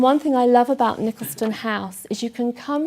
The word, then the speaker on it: Nicholaston: I first heard of Nicholaston House, or Nicholaston, I think is the right pronunciation, when Helena Wilkinson came to my church, Trinity Church in Cheltenham, and she was talking on eating disorders.